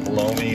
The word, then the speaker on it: bologna: toasted on a good bologna Colonna or baloney you can pronounce it they pronounce it baloney around here put me some lettuce